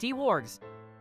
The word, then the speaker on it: Dwarg: Dwarg619 says, hey, my name is pronounced D-Wargs.